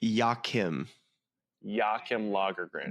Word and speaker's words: Joachim Lagergren: That's the way she pronounces his first name, and then Lagergren, I believe, is how you pronounce his last name.